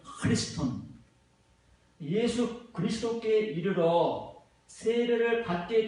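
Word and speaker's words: Χριστόν: 원어민 발음으로는 이게 크가 아니라 흐가 되는 거예요. 크리스톤.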